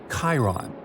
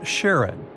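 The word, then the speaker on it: Charon: And finally, while standing on Pluto, you would see its five moons, Stixs, Nyx, Keraros, Hydra, and the most mysterious one, Chiron, also pronounced Sharon.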